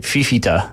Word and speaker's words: Fifita: So Noah Fafita? If I pronounce that right. Fifita. It's F-I-F-I-T-A.